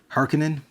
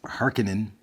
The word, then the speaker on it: Harkonnen: How do you pronounce? Harkonnen.